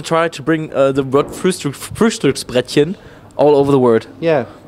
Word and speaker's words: Frühstücksbrettchen: But I really love this Frühstücksbrettchen.